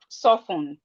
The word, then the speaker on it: soften: We have listen. The T here is silent. The T is silent. We have castle. We have whistle. We have fasten. We have soften. Fasten, whistle, castle, listen. The T in these words are silent.